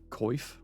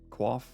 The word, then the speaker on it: quaff: Yeah, I think I pronounced it coif. Quaff. English language, I swear.